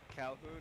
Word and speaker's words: Calhoun: Calhoun rhymes with coon.